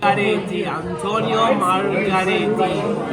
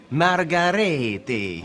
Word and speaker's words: Antonio Margheriti: The first thing I want from Italian was to show me how to pronounce Antonio Margheriti. Antonio Margheriti. You know. Antonio Margheriti. Ancora? Margheriti.